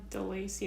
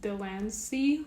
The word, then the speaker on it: Lancie: It's not DeLacie, it's Lancie with the N.